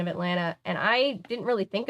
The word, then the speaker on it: Atlanta: pointed out to me we don't really say the T like it's not really Atlanta it's more just like Atlanta but it's not like